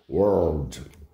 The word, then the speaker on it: world: em inglês legal então A ideia é você pronunciar o r tá então carrega no R aí que fica legal World e outra assim o